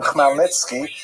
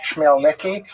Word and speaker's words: Khmelnytsky: when this man, Bogdan Khmelnytsky, sometimes horribly mispronounced Chmielnicki, because that's the Polish spelling with an American pronunciation, but the actual pronunciation is Khmelnytsky, led an uprising of Ukrainian peasants against their Polish overlords.